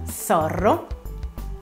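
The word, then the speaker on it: zorro: realtà voleva dire volpe in spagnolo si pronuncia sorrow e poi la z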